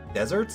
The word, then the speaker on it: deserts: the air at land, but pronounced like the sweet treat.